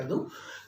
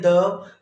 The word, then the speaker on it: the: कई सारे लोग इसको बोलते हैं द, कई बोलते हैं दी, कई बोलते हैं दा। अब ये है क्या असल में? देखिए इसका करेक्ट प्रोनाउंसिएशन तो है द, लेकिन समटाइम यदि कुछ वॉल्स के आगे आ जाता है, वॉवल स्वरों के आगे आता है तो दी हो जाता है।